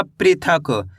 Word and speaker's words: पृथक: प में ऋ की मात्रा प्री थ क। तो मिलके बन जाएगा पृथक।